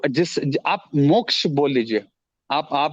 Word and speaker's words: मोक्ष: बोलते हैं क्यों सर क्योंकि संस्कृत में ये जो प्रोनाउंसिएशन है वो नॉर्मल इंडियन वो बोल नहीं पाता है सर मोक्ष हो गया क्षत्रिय हो गया जो ऐसे स्ट्रेस वर्ड्स है ना सर वो नॉर्मल इंडियंस नहीं बोल पाते हैं वो सिर्फ ब्राह्मण